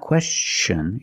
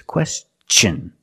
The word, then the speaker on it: question: When T-I-O-N is after an S, then it's pronounced differently.